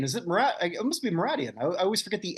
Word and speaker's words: Mouradian: Actually, I've always been saying Meridian. Is it It must be Mouradian. I always forget the A. I always put that I in there. So Mouradian is the traditional pronunciation.